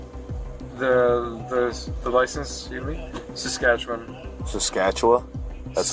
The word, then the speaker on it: Saskatchewan: Saskatchewan? That's how you say it? Saskatchewan, yes.